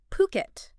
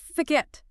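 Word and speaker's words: Phuket: Before we even dive in, let's clear up one crucial pronunciation, right? We're talking about puket, not forget.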